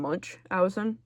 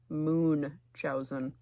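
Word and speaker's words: Munchausen: I've always been saying Munchowin, but Google says it's pronounced Moonchowzin.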